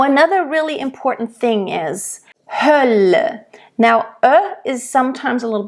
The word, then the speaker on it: Hölle: Hölle, Hölle, There is a closed and there is an open This one is an open one because it is followed by 2 voiced consonants. Hölle.